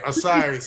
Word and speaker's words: Osiris: You're pronouncing it correctly. Yeah. Osiris.